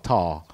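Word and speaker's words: Tahr: be code named trusty how do you pronounce that tar t a HR tar apparently it's a type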